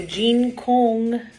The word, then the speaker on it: Jin Kong: of this so uh an i is said like e so it the j i n is gene and then o is said like um oh and so it's kong so jean kong and then that the q-u-e is the hard one um so uh the uh q sounds like k and moves towards so